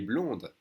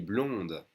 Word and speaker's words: blonde: But for a girl, you would say, elle est blonde. We add an E, that means you pronounce the D. Elle est blonde.